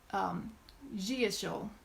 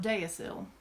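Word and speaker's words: deosil: how you're moving and she said that it is Jia shil Christopher said gentle but at any rate it is not deus ill how about that Sela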